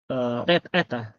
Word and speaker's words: eta: Rumusnya adalah R kuadrat dikalikan dengan G delta rho dibagi dengan 3 eta.